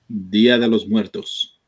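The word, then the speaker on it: Día de los Muertos: Ladies and gentlemen, we had a Dia de los Muertos. Is that how you say it, J News? You the Spanish person. Dia de los Muertos.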